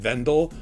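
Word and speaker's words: Wendol: that his father's land is plagued by the Wendell and they pronounce it Vendela but it's spelled w.e ndel and these were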